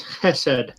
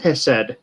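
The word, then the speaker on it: חסד: It's Hesed. Chesed. It's that kind of throat clearing thing. I heard that used in a sermon not too long ago. Okay. So yeah, Steadfast loyalty. it's pronounced Hesed.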